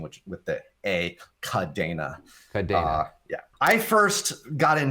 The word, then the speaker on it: Kadena: with a c and so we pronounce it with the spanish pronunciation which with the a cadena yeah i first got